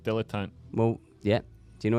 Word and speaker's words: dilettante: It's pronounced dilettante.